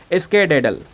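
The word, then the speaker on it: skedaddle: तो आज का वर्ड यहाँ पर आपका देखने को मिल जाएगा, इसको हम प्रोनाउंस करेंगे स्केडेडल।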